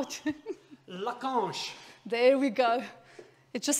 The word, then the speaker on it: Lacanche: And the unpronounceable cooker that Xavier is going to tell us how to... Lacanche.